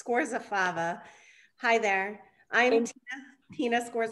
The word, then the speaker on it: Scorzafava: And pronunciation of your last name? Sure thing, it's Scorzafava.